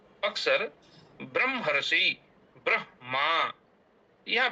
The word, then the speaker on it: ब्रह्मा: अब कभी-कभी ब्रह्मा ऐसा बोल देते हैं। ब्रह्मा पहले म का उच्चारण करते हैं। फिर ह का उच्चारण करते हैं। लेकिन ऐसा करना अशुद्ध है। यहां पर जो ब्रह्मा लिखा हुआ है इसका उच्चारण होगा। ब्रह्मा ब्रह मा ब्रह्मा असतो अह ब्रह